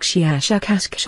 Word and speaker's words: shiashukash: human letters something like shiashukash for the very very strong pronunciation of the s h and k sounds we have no four